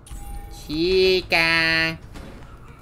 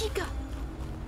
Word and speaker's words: Chica: Why did I say it like that? Chica. It's Chica.